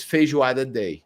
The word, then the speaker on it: feijoada: I don't even know how to pronounce this. So Ha ha ha. Oh, so feijoada.